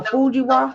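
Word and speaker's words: Fujiwhara: How you pronounce it? A Fujiwa.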